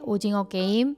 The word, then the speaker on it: 오징어 게임: Y por último, finalmente, el juego de calamar, que en coreano se dice Ujingo Keim, o si no, Ujingo Nori.